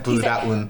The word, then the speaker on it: 브라운: But like I always say my name as 브라운.